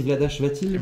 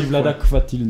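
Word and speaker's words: Vlaada Chvátil: Je crois que c'est Vladash Vatil. Vladash Vatil, c'est une bonne réponse. Je crois qu'on dit Vladak Vatil, mais je me suis trompé hier sur la Auteur prononciation.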